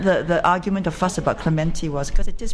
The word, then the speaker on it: Clementi: For me, it's always been Clementi. Yes. No, it's Clementi. You've got the accent on the wrong syllable.